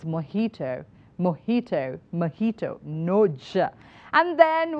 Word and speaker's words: mojito: pronouncing this word as mojito no J it's moito mojito mojito no and